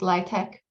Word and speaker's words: LIHTC: affordable housing units being built especially through the LIE Tech tax incentives um so lihtc which is it's pronounced Live tech it's basically a tax credit that developers get